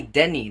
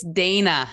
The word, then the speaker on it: Dehne: guest her name is Denny did I say your name correct uh no but that's okay it's Dana oh my gosh